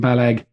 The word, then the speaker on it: Balaguer: Is that how you say his name? Guillaume Balag. Yeah, I think it's Balaguer, isn't it?